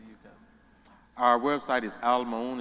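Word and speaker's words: Al Maauun: It's A-L space M-A-A-U-U-N, and it's pronounced Al Maun.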